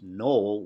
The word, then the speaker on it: Noel: now in many cases Knoll without the diaeresis is a man's name and it's pronounced with one syllable and it's a long Oh whereas Noel with the